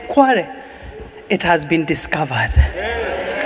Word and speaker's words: Kwale: And then he was trying to pronounce Kwale, Kwa, Kwa, Kwa. And then we all said Kwale.